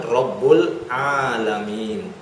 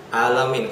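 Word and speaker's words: رب العالمين: Allah Subhanahu Wa Taala berfirman, Rabbul Alamin. Rabbul Alamin. Rabb seluruh alam. Bacanya pakai ain ya, jangan alamin. Kalau pakai alif itu artinya pedih. Alam dengan alam beda.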